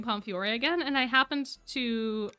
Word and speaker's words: Pomfiore: I always forget the E in Pomfiore, because when you pronounce it, the E is silent. But when you spell it, it is there.